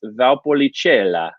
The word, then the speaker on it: Valpolicella: going to be discussing valpolicella okay and i i talked about this yesterday with italian words it helps if you slow down to pronounce it so it's valpolicella okay it means the